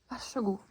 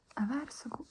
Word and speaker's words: Vær så god: Vær så god. But you say it quickly. Same here. Vær så snill. Vær så snill. It gets mashed together when you say it quickly. That's fine. Vær så god.